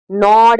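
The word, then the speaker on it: gnawed: इट was evident that the unresolved quarrel still नॉड एट हिम, ठीक है, जी silent होता है यहाँ पे, नॉड एट हिम, नॉड का मतलब बॉदर्ड।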